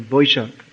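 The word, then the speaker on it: বৈশাখ: that means in here's the month of boishakh or in sanskrit it's vaisha in bengaluru they pronounced so that is very hot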